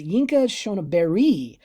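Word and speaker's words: Yinka Shonibare: And then you know a little bit because we did an EMAC with I've always pronounced it differently, but it's Yinka Shoniberi, MBE, and now he's an RA, so he's from the Royal Academy.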